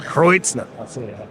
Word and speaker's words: Schneider-Kreuznach: You're going to have to pronounce it. Schneider-Kreuznach. Kreuznach.